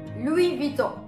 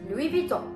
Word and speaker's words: Louis Vuitton: which is personally my favorite and that is Louis Vuitton Louis Vito Louis Vuitton the next one we have is again a